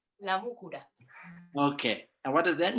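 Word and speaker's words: La Múcura: Hi, you pronounce it La Mucura. La Mucura. La Mucura.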